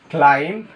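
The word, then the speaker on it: climb: করা বা সোজা করা ক্লাইম আরোহণ করা ক্রাম রুটির টুকরো অর্থাৎ এই কষেত্রে বিগুলো আমাদের উচ্চারণ হবে না। কারণ হচ্ছে এম এর পর কি? বি থাকলে সে বি উচ্চারিত হয় না।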